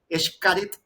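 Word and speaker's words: Xcaret: Ya la la la X la X en muchos dialectos, idiomas funciona como SH, incluido el gallego. Yo tuve la oportunidad de estudiar en Galicia y los gallegos utilizan la X como SH Shakira, así se pronuncia la la X.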